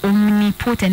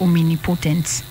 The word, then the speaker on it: omnipotent: it as omini potent omen important is a wrong pronunciation of them of the word it's only omnipotent not all me me only potent omnipotent not omen potents that's correct so